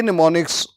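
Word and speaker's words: mnemonics: word यह नहीं है असल वर्ड कौन सा है जो एम से स्टार्ट हो रहा है और इसमें एम साइलेंट है इसको बोला कैसे जाएगा एन ई एम ओ एन आई सी एस एम इसमें साइलेंट है तो करेक्ट जो ऑप्शन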